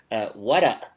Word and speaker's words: Warraq: Ibn is son of Wara. I mean, that's the way we pronounce it in Lebanese Arabic. It's a rather than a k.